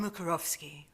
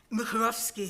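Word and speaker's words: Mukařovský: The person I have in mind is Jan Mukarovsky. That's not the correct Czech pronunciation, but it's the English version. Mukarovsky, who lived from 1891 to 1975.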